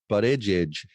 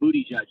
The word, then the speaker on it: Buttigieg: How do you say his name? Buttigieg. Okay, because I keep calling him Booty Judge.